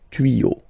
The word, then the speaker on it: tuyaux: Des tuyaux, same rule, you don't pronounce it. Des tuyaux, okay.